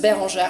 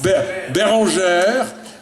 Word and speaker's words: Bérangère: How do you usually pronounce it for Americans? Because that's hard for us. Just Bérangère. I know it's Bérangère.